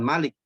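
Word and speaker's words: مالك: Nah ini, hurufnya dilafalkan, hurufnya ada dalam pelafalan, tapi dalam tulisan tidak ada. Contoh tulisan Malik. Malik yang Rasul Utsmaninya itu tanpa alif sebetulnya.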